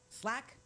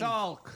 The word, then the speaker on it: Salk: Jonas Slack? How do you say that name? Where are you? S-L-A-K. The vaccine. Salk.